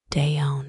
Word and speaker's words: down: He said rudd for road, deon for down, and gave an indescribable twist to the word garden, best spelled garden.